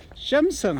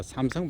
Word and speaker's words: 삼성: 근데 뭔데 하면 샘성 합니다. 삼성 발음이 안 되거든요. A로 나니까 샘성 합니다.